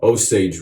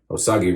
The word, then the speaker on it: Osage: appreciate it alright guys so osage rub or as we sometimes call it in the barbershop osagi osagie rub just says just as a joke that's how i pronounced it one time uh when i first started barber school and i went in and i was an apprentice and uh i misread it wrong and i called it